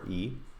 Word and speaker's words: Clojure: Clojure. So it's spelt a little differently than you might assume.